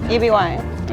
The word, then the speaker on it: Eby: EBY, like Debbie without the D. Okay. Like Abby with an E.